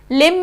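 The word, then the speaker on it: limb: लिम में भी जो M के बाद B जो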